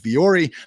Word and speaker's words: Vuori: I do think Viore, based on my experience, trying to find the right hat, has some pretty fantastic ones out there. So Viore is spelled VUORI, and they have a fantastic